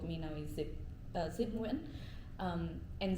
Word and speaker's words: Zip: So I my the name you guys know of me now is Zip uh Zipu. Um and Zip is how my middle name is pronounced.